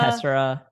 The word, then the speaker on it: Tessera: Tessera. Yeah, Tessera. So think of the word like tesseract and then get rid of the CT at the end.